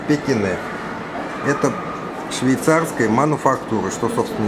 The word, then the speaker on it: Pequignet: французский мануфактурный бренд кине название длинное но читается как Пекине это швейцарская мануфактура что